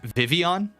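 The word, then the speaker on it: Vivillon: was the first hour Jak pronounced vivon like the Double L is like a y like in Spanish I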